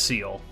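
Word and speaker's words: Ciel: It's Seal.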